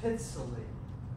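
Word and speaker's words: Pitzele: It's right pronounced Pitzley.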